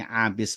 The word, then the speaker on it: Abis: Wa an Abis ibni Rabi'ah, dari sahabat Abis Ini Abis bacanya.